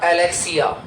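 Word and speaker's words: alexia: ए ए एल ई एक्स आई ए इसे pronounce किया जाएगा एलेक्सिया एलेक्सिया एलस का मतलब होता है पढ़ने में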